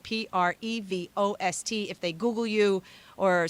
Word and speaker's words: Prevost: Now, keep in mind, It's Codie, and then it's Prevost, but with the ST on the end, which is silent. Prevost.